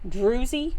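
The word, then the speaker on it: drusy: It's D R U S Y, I think is how you pronounce or spell it. Drewzy is how you say it.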